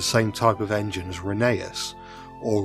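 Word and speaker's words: Rheneas: As previously mentioned, Jennings is the same type of engine as Reneeas or Renius since that's how you pronounce his name according to the railway series law.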